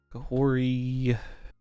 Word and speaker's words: Kahhori: I guess the second H is silent. Kahori and we could do a Wiccan version too.